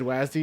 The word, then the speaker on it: WASD: Love how I said Wazdi. Yeah. Isn't that how that's how you pronounce it, right?